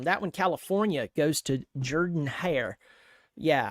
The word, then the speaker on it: Jordan-Hare: California goes to Jordan-Hare. Yeah, I made sure I didn't say Jordan because God forbid I pronounce Jordan with the O.